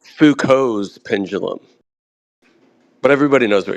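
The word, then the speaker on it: Foucault: oh golum Gollum yeah I think technically it's fuko's pendulum but everybody knows what you're talking about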